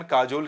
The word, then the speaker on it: काजोल: तो अजय देवगन काजोल की चापलूसी करते हैं। इसका प्रोनाउंसिएशन है कजोल, लेकिन आपको याद करना आसान हो इसलिए मैंने उसको बना दिया काजोल।